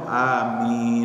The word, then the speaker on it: amin: Dalam bahasa Arab itu kan ada aturannya membaca. Al-Quran juga ada ilmu tajwidnya. Nah saya sampaikan a itu di situ adalah mad badal, ya min adalah mad dari sukun. Makanya bedanya yang terakhir harus panjang. Makanya bagus yang benar itu amin.